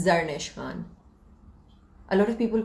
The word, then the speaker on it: Zarnish Khan: Please pronounce your name. It's Zarnish Khan. A lot of people call it Zarnish, and that pisses me off. But it's Zarnish Khan.